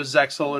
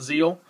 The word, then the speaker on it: ZEXAL: couple of days ago uh obviously it's Yu-Gi-Oh zeil it's the brand new one U you do pronounce it zeil it's not Zeal like some people thought um this does have